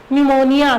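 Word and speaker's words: pneumonia: cholera tuberculosis and न्यूमोनिया यह P silent होता है इस क्या रीड करते हैं हम न्यूमोनिया so bacteria can cause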